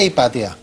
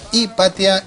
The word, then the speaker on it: Hipatia: jordi de donde era hipatia era y para ti si el nombre es correcto se equipa tía donde se pone el acento en el patio tal cual bueno en principio no lleva acento otra cosa sería según